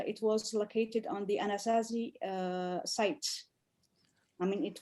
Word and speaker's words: Anasazi: do you pronounce it anasazi well in french we say an assassin in english it's it's anazazy okay okay okay sounds